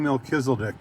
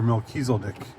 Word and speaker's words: Melchizedek: Let's talk about King Melchizedek, or Melchizedek, if we're to pronounce both ways, in the Bible.